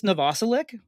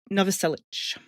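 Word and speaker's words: Novoselic: I thought it was Chris Noselik for like 30 years. It's Chris Noviceich. It's the correct Croatian pronunciation.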